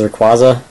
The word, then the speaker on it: Rayquaza: I think the official pronunciation is Rayquaza.